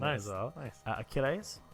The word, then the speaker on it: Achilles: Achilles. I hope I'm pronouncing that right. I always say it wrong. Achilles. Achilles, yeah. Achilles, yeah.